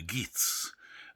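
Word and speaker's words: Geat: some background to the geets uh nobody i think quite knows how that's pronounced g-e-a-t but uh he's a geet um beowulf and there's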